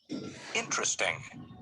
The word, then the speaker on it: interesting: and repeat the words notice that the unstressed vowels are not pronounced every different interesting okay please repeat after